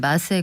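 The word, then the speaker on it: massé: 줄 알고 방송에서 못쓰는데 명백히 프랑스 옵니다 원어 발음 은 맛의 구요 먼지 아시죠 이 300이상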